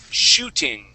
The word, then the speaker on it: shooting: So, for example, right here, this word is shooting. Shooting. Shooting. Okay. So, right here, you're pronouncing that sh as an s, saying sue. Okay. We want to say shooting. Shooting. Okay. Yeah. So, you're going to say sh.